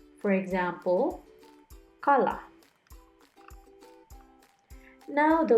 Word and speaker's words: kala: letter k letter k K is pronounced more Softly As in skate rather than the hard K in The Kite for example kala now the letters GB